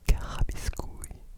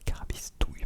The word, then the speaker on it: carabistouilles: un mot très intéressant Attends des carabiscouilles. Bah carabistouille pardon.